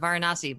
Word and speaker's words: Varanasi: correctly because I keep wanting to call it Varanasi, but it's Varanasi. It's Ironic. cool. Different people pronounce it differently.